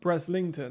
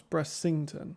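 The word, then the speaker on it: Brislington: But like Breslington, actually that comes out quite a lot. Breslington. I was like, no, it's Bressington. Like sing song, Bressington.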